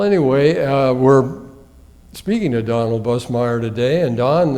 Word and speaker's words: Busemeyer: It's spelled Buse, but you pronounce it Bus. Right. Yeah, we pronounce it Busemeyer.